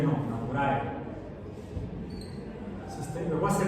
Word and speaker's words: Naturae: Nature no, Naturae. Luego se pronuncia Naturae, Sistema Naturae.